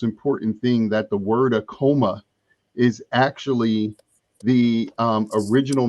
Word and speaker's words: Akoma: dealing with aom right it's aom am I pronouncing it properly yes aom akum and could you explain